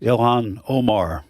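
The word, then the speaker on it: Ilhan Omar: Elon, how do you pronounce? Elhan Omar. Ilan Omar.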